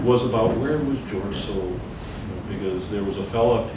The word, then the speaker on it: Soule: George Soule, a big, or Sewell, I'm corrected many times, the correct pronunciation is Sewell.